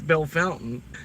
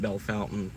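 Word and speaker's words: Bellefontaine: I don't know why people want to say it's bell fountain. I mean, I get it. That's what the locals call it.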